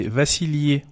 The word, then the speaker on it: Vassilie: En version originale, c'est Vassilie pour le prénom et pour le nom de famille.